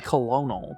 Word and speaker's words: colonel: colonel on c string i hate the way kernel is spelled there's no r in there but yeah it should be colonel but whatever colonel colonel